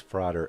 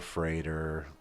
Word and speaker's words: Frater: And the pronunciation of Frater over Freighter, it's not that important. It's tomato tomata. It rhymed with father.